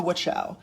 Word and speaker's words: Wachau: I have a feeling that is not. Like, just something tells me that's not how you pronounce It's the Wachau.